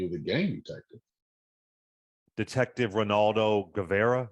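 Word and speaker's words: Reynaldo Guevara: Detective Ronaldo Guevara. Am I saying it right? Yeah, yeah, Ronaldo Guevara.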